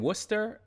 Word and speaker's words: Worcester: I was born in Worcester, and then I was raised for a while in Boston. I still can't pronounce that word.